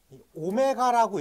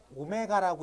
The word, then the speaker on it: 오메가: 쳐요 99번의 별표 치고요이 오메가라고 읽어요이 W 비슷하게 써 있는 거 어떻게 읽는다고 오메가라고 읽는다고 네 그래서이 오메가는 여러분들이